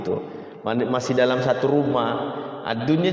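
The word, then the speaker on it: الدنيا: Ad-dunya jangan, bukan ad-duya ya, ad-dunya.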